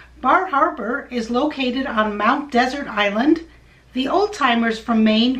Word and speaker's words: Mount Desert Island: harbor is located on mount desert island the old timers from maine call it mount desert island a pronunciation that comes from the area's french heritage speaking of which this